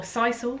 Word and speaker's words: sisal: straight out but safe alternatives would be uh sissel or sisal as i recently found out it was pronounced so i've been pronouncing it wrong for ages uh sisal um rope perches and jute as well are